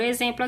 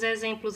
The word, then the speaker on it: exemplo: No livro de caligrafia, turma, na página 60, nós temos o X com o som de Z, ok?